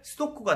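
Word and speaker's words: 数独: 이거를 일본 발음으로 하면 스도쿠가 된다고 합니다.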